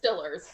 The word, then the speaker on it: Steelers: He specifically pronounces it as Stillers gonna Super Bowl. Yes. It's Stillers. Stillers.